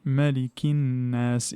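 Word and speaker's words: مَلِكِ النَّاسِ: Donc automatiquement le lem prend la caractéristique de la lettre qui le suit et du coup il se prononce pas. Donc on dit malikinas.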